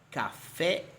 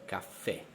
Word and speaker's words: caffè: Dividiamo le parole in tronche. L'accento cade sull'ultima sillaba, per esempio caffè.